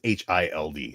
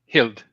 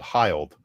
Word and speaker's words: Hild: Hild. Hild. Of course. But the amount of times I've been called hiled because it rhymes with wild or mild is it's the the